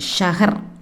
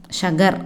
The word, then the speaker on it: शहर: நகரம், ஷஹர், ஷஹர்னா city, city, ஷஹர், ஷகர் அப்படின்னு சொல்லுவாங்க, ஷஹர் அப்படின்னு ப்ரொனவுன்ஸ் பண்ணிக்கலாம்.